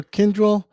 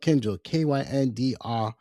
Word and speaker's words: Kyndryl: Okay, the company that she works for, Kyndryl, um, it's got a weird name. So what it means is kin is spelled Kyndryl, Kyndryl. So kin means kinship, of course, and drill means tendril.